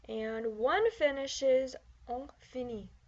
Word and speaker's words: finit: He finishes, il finit. She finishes, elle finit. And one finishes, on finit. Also notice that the T is not pronounced.